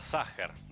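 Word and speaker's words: Sacher: es vienesa es obviamente la torta ságer que se escribe satcher con ch pero las fechas de pronuncias juegan alemán es la torta que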